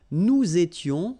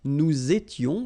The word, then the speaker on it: nous étions: Tu étais, il était, elle était, nous étions, little liaison here to make it more beautiful, nous étions, okay, final S not pronounced, remember, vous étiez, same